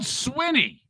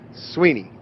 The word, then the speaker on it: Swinney: been saying dabo swinney it's spelled swinney but it's not sweeney it's not debo or